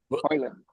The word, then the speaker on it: Højlund: Højlund. Oh, Højlund. The J is silent, everything silent. Everything silent in the middle.